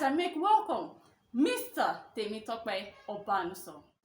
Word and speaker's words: Obanuso: And then the real pronunciation of my surname is Mr. Obanuso. Not Obanuso, Okay. it's Obanuso.